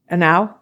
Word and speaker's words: ANAW: ANAW?